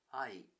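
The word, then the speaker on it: 愛: Similar to I, this word is also high-pitched on the first syllable. Ai. Words with the high pitch on the first syllable are referred to as prototonic.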